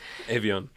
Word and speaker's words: Evian: Yeah, we're not doing French pronunciation. It's Evian.